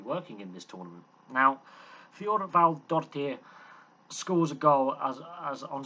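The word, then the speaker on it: Þorvaldsdóttir: And Thorvaldardottir, yeah, that is how you pronounce that name, misses the penalty.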